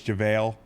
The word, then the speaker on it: JaVale: It's like how I missed pronounced JaVale, I was reminded it's JaVale.